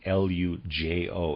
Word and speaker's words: Lujo: A reader's aside, I'm pronouncing L-U-J-O as Lujo. I might have that wrong.